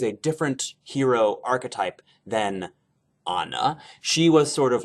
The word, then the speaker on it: Anna: frozen i was unaware that ana's name is pronounced anna and not anna that's how little i actually know about this